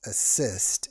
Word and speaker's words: ACISTE: It's if you Google ACISTE, and it's pronounced assist, even though it looks like it says assist.